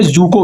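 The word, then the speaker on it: Dzükou: देखिए एक वैली है जको valley D silent जुको valley.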